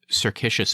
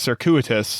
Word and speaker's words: circuitous: longer than the desired you are saying it wrong it's circuitous and you think of